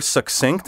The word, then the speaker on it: succinct: flaxseed correct you asked because the rule for pronouncing CC in a word says that the first C sounds like K the second like s together they create the sound of K s as in the name Jackson thus we say accident